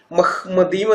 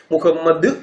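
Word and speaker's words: מחמדים: വായിക്കാൻ അറിയുമായിരുന്നെങ്കിൽ മഹ്മദീം എന്ന് തന്നെ പറഞ്ഞതനെ മഹ്മദീം എന്ന് പറഞ്ഞട് മുഹമ്മദ് ഇം എന്നൊന്നും പറയില്ല. ഈ ഉത്തമഗീതം അഞ്ചിന്റെ 16 നമുക്ക് മൂലഭാഷയിൽ തന്നെ കേട്ടു നോക്കാം മൂലഭാഷയിൽ കേട്ടല്ലോ ഹീബ്രുവിൽ മുഹമ്മദീം എന്നല്ല മഹ്മദീം എന്നാണ് അവിടെ ഉപയോഗിച്ചിരിക്കുന്നത് മഹ്മദീം വേണമെങ്കിൽ നമുക്ക് ഒന്നുകൂടി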